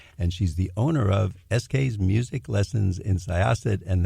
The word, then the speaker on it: Eskay's: Sarah is a Long Islander, and she's the owner of Eskay's Music Lessons in Syosset, and that's spelled Eskays. It sounds like the initials Eskay, but it's not.